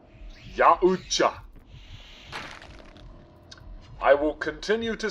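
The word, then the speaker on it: Yautja: It is YA as in Ya, Oot as in OOT, Oot-ja, Ya-oot-ja.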